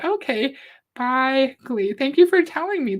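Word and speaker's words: bejgli: Dainty's fine, but it's pronounced Baigli. It's a Hungarian word. Okay. Baigli.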